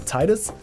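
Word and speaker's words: Tidus: ever since then also his voice actor pronounced his name as Titus so like the Canon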